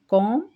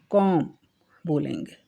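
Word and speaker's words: comb: कॉम ये यहां कॉम कॉम बोलेंगे कॉम योर हेयर कॉम्ब नहीं बोलेंगे एम और बी का प्रोनाउंसिएशन सही होगा या नहीं ये साइलेंस वर्ड है कॉम बी बी का प्रोनाउंस नहीं करेंगे योर हेयर अपने कौम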